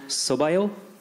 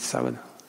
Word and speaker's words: sábado: And I just wanted to return the favor by saying, Boa sorte no sobaio. Did I say it correctly? Boa sorte, sábado.